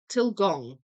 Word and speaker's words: Tilgang: I use Tilgang, too. Sounds a bit like Tilgong in pronouncing.